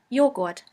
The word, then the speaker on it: Joghurt: The letter J is pronounced like the Y in the word yogurt. The German translation for yogurt is Joghurt, Joghurt.